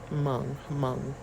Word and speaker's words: Hmong: Laotian, Hmong immigrants. I don't know. I know that H is silent.